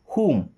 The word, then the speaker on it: whom: WHOM whom। होम नहीं, whom।